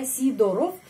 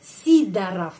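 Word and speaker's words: Сидоров: Sidorov ya, Sidorov bacanya Sidarov. Kenapa? Karena penekanannya pada huruf I. Sidarov.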